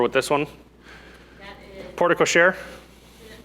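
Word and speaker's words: porte-cochère: From my understanding, it's porte cochere.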